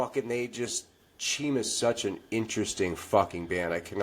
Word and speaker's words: Cheem: We're talking to Chim. Now don't get it twisted. It's not Keem, it's Chim.